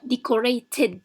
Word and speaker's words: decorated: So the first word here we have decorated, and we said that when we find the consonant t means that the ed is pronounced the id, decorated.